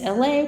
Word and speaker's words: Elay: My name is LA, pronounced like LA, like the city I'm not friends with, but I'm breezy.